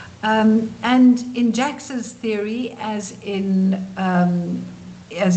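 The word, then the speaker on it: Jaques: organizational psychologist called Elliot Jax. It's written Jacques here, you see, but he but it's pronounced Jax.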